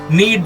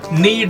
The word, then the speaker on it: knead: Knead the floor. Knead the floor. The K, mind it, it is silent.